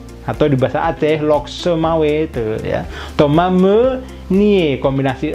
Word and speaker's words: Thomas: borrusia Dortmund itu adalah Toma menit Oma menyihir as tidak dibaca kemudian nama Thomas kalau dibahas gratis tuh biasanya esnya tidak dibunyikan karena SD Ujung juga